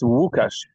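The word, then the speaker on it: Łukasz: It's Wukash. Wu is like Lukasz. L with specific pronunciation. So Wukash.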